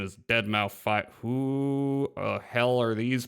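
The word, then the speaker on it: deadmau5: Keep wanting to call him Dead Mouse, which some people do, but apparently the correct pronunciation is dead mouth five.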